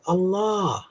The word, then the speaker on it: Allah: I think they had a god called Allah with an elongated second syllable and they saw him